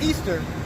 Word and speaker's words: Ishtar: yeah alright Semiramis became known as Ishtar when which is pronounced Easter and her moon egg